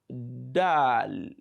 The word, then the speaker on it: dal: is D Dal Dal this is pretty much easy to pronounce because no we have the equivalent of that D sound as we have in English we have it also in major African languages so probably we'll be able to pronounce it correctly we have Dal Dal Dal d d d just the D sound d d d the